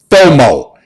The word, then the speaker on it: FOMO: the Millennials have an acronym they use less pronounce no mo FOMO fo mo which is an acronym